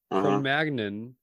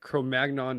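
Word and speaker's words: Cro-Magnon: which way was correct from magnan is correct chromagnon is like an American mispronunciation that's caught on but there's an alternate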